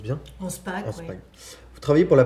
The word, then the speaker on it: Anspach: Au les cœurs de Solveig Anspach, je le prononce bien? Anspach, oui.